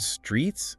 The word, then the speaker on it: streets: Like the word streets, Streets. that TS sound at the end distinguishes it from street, right?